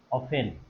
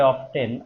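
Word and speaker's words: often: আচ্ছা, এক্ষেত্রে আপনাদের একটু বলি, এই শব্দটা লক্ষ্য করতে হবে এখানে, অফেন, মনে রাখবেন অফেন, অনেকে উচ্চারণ করে অফটেন, আসলে উচ্চারণ অফেন।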